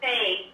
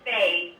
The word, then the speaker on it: fae: It's a fae. It's pronounced fae.